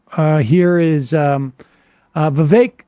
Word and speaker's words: Vivek: here is um uh Vivek still rhymes with cake making his uh claim